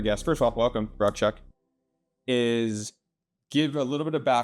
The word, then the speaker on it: Rakshak: So my name is Rakshak, and I know that might be different from what you're used to hearing as a name. So it's really simple. 2 syllables, Ruck, Shuck. They both rhyme.